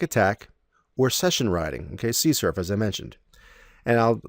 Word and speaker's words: CSRF: forgery or X SRF sometimes you'll see it written as CSRF and it's pronounced c surf all right so that's